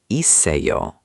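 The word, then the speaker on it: 있어요: The s from it would move to uh, so it becomes isseoyo.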